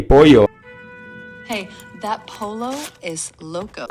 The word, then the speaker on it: pollo: in El Macho's restaurant, they kept calling the chicken a polo, which is Spanish for chicken, but like, that's just not how it's pronounced. It's supposed to be pollo.